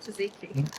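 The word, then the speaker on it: tzatziki: Not zucchini, taziki.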